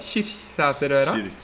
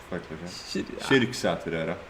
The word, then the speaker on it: Kyrksæterøra: Hvordan uttaler du det? Kirksæterøra? Kyrksæterøra. Ok. Kyrksæterøra.